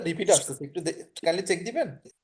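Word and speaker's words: dent: ত দ মানে হচ্ছে দাঁত। দ যেটা ইংলিশে আমরা যেটা বলি হচ্ছে টু ফ্রেঞ্চে সেটা হচ্ছে দ ডি ই এন টি টি এর উচ্চারণটা হবে না তো ফ্রেঞ্চে নরমালি যেটা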